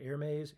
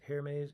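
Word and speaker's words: Hermès: two hair May again I can't ever pronounce this right air maze hair maze air maze I think it's air maze it's a French tie um but it had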